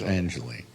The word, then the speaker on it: Angeli: I know Pier Angelie pronounced Angelie.